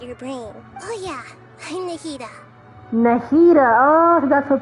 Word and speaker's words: Nahida: Oh yeah, I'm Nahida. Nahida, oh, that's her pronunciation.